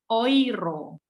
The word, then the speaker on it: Euro: uang di Eropa Euro kalau orang Eropa sendiri dianggap orang Jerman itu nyebutnya oiro karena EU itu bacanya Oi jadi kalau ditanya mata